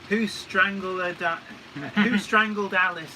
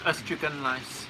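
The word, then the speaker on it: Ystradgynlais: Leslie Gilpin says, Ystrygynlais, or who strangled Alice, as a mate in Swansea used to call it. But it is pronounced Ustragunlice.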